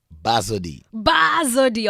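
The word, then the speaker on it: Bazodee: How do you pronounce it? Badozee? Badozee.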